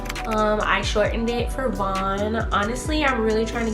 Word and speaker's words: Von: to say my name so it's kind of better for somebody to say vaughn but sometimes that name even gets butchered because some people would call me bon and and but i'm